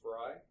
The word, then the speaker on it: Frey: It's spelled like Frey, F-R-E-Y, but it's Fry.